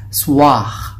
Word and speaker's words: soir: Pag nakita niyo sa soir, pero it is pronounced as soir. May R na naman yon. Sasabihin nyo, soir. Oo, soir, pero kakainin natin yung letter R.